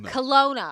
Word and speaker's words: Kelowna: Kelowna. Kelowna. I know. It's hard to get the pronunciation down.